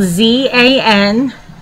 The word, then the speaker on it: Zan: That's spelled Z-A-N.